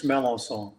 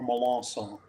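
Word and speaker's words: Melançon: My name, and you need to hear it before you see it, because if you see it, you'll always mispronounce it. But it's very common in Louisiana. It's melancon or melancon. You can pronounce it.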